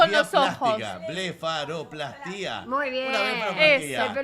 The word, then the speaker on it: blefaroplastia: Blefaroplastia.